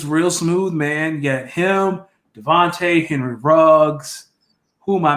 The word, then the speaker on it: DeVonta: devonte adams oh it's devon smith i've been mispronouncing his name this whole time devonta smith devonta smith jalen devonte henry um jerry